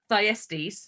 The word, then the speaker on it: Thyestes: the race as well okay so that's the thyestes sorry i think i mispronounced it earlier uh let's talk about the